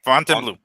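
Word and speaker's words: Fontainebleau: I I asked one of the cocktail waitresses like, "How do you pronounce it?" She goes, "Font font font font blue." Okay. Font and blue.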